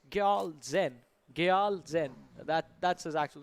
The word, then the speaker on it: Gyal Zen: And also have been recently informed we've been mispronouncing one of the players' name. It's Gyal Zen.